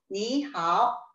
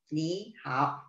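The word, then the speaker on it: 你好: 단어 하나마다의 높이인데 니하오는 삼성과 삼성으로 이루어져 있습니다. 중국어에는요, 성조 변화, 성조를 변화시켜서 좀 더 부드럽게 표현을 할 수 있는 성조 변화가 있습니다. 성조 변화는요, 가장 두드러지는 것이 삼성의 성조 변화입니다. 여기에서도 삼성과 삼성의 성조 변화가 가장 두드러지는데요. 니하오처럼 삼성과 삼성으로 이루어져 있을 때에는 앞에 나오는 단어의 삼성을 이성으로 변화시켰습니다. 그래서 니하오, 니하오라고 표현을 하시는 거죠.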